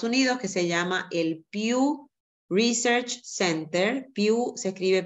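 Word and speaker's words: Pew: que en Estados Unidos que se llama el view research Center View se escribe p e w que ha generado mucha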